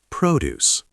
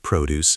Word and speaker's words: produce: Produce. Noun. Farm. Pronounced produce. Stress on first. Now pause and repeat produce 5 times. Shadow. Fresh produce is healthy.